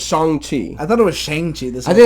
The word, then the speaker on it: Shang-Chi: So I will go first and let you know that I just saw the movie Shang-Chi and the Legend of the Ten Rings. Is that how it's pronounced? Shang-Chi?